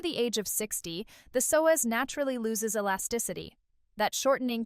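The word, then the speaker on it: psoas: It's called the soas, pronounced soaz, and scientists now call it the hidden core.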